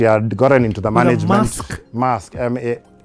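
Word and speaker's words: Maersk: gotten into the management mask this is okay that's how you pronounce it so she had gotten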